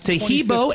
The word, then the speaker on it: Taheebo: Tahibo is spelled T like Tom, A-H-E-E-B like boy. Oh, that's Tahibo, and then continue with the word tea, and then the word club.